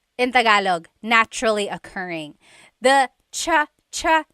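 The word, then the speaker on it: tsaa: There's the ts sound and then the double vowel uh pronunciation.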